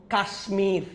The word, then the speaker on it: কাশ্মীর: আমি বলেছিলাম কিছু সংস্কৃত শব্দে, কতিপয় কয়েকটা, এগুলাতে মফলা বজায় থাকবে। কুষ্মাণ্ড, স্মিত, কাশ্মীর, এগুলাতে বজায় থাকবে।